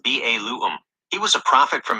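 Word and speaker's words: Balaam: Okay, so Balam is pronounced Ba Lu.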